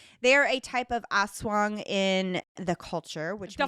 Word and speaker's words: aswang: They are a type of aswang in the culture, which The means fuck is an asswang? But what is an asswang? It's an evil spirit. I think it's more like aswang, not an aswang.